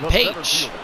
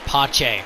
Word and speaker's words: Pache: Now we got Christian Page, who does have a hit in this ball game. Oh, I'm sorry, it's pronounced Pache.